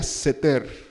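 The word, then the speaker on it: סתר: al abrigo del altísimo esta palabra buscándola en hebreo se pronuncia setter 7 y se está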